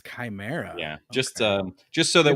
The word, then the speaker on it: chimera: I didn't want to say anything, but it is pronounced chimera. Oh, it's chimera.